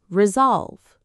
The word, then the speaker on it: resolve: Word number 7, resolve. Let's get the pronunciation. Resolve. 2 syllables. Resolve. The stress is on the second part, resolve. It sounds just like the word solve with re in front of it.